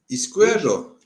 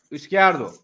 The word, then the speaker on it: Izquierdo: Eski Derdo. Doğru mu? Nasıl bir telaffuzu var? Izquierdo. Izquierdo.